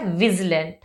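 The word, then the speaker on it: vigilant: अब आप इसको विजिलेंट मत पढ़िएगा, क्योंकि वी आया है, आई आया है यहाँ पे, तो क्योंकि आई जो होता है वो साउंड देता है ई की मात्रा की, बट तो यहाँ पे इसका जो प्रोनाउंसिएशन है वो है विजिलेंट, विजिलेंट।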